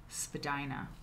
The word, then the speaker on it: Spadina: Okay, so, After graduating in 1948, Wieland worked as a graphic designer during, Spadina, Molly, thank you, Spadina, thank you, Spadina. Yeah, if I ever pronounce anything, please correct me, I appreciate it.